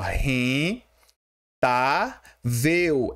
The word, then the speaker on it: rentável: Olha só, a palavra rentável tem a sua sílaba tônica aqui no tá. Como é que se separa rentável? É assim, ó. R tá veu. Ela tem três sílabas, né? Só que a penúltima sílaba, que é a forte, é a tá, ó.